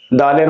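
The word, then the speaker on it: د: রব্বি জিরনি ইলমা রব্বি জিরনিলমা ব্লকবোর্ডে খেয়াল করেন এবং আমার সাথে হরফগুলো পড়ার চেষ্টা করেন দালের মাখরাজ হল জিহ্বার আগা সামনের উপরের দুই দাতের গোড়ার সঙ্গে লাগিয়ে জিহ্বার আগা উপরের দুই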